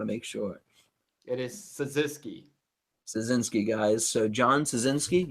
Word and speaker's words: Cyzycki: How do we pronounce it? I want to make sure. it is Cyzycki.